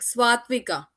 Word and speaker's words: Swatvika: Okay, so now we can have Miss Sharon can introduce herself and then uh is it Swatiwaka? We You can uh say it like Swatvika.